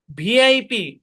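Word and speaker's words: VIP: স্পষ্টভাবে উচ্চারণ করতে হবে এখানে যদিও আমাদের ভিপ হওয়ার কথা কিন্তু এখানে ভি হবে না যেমন দেখেন এল ইডি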